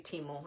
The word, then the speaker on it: Temu: it's timu um yeah most people say teu and that's how I used to say it like I said until I heard that commercial that said temu and then I just got used to saying at temu um but it's funny